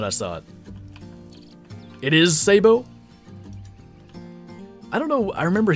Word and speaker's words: sabot: Have I been pronouncing sabot wrong my entire life? I think the correct... Because it's French, right? I think the correct pronunciation is sabo, actually. But most Americans say sabot.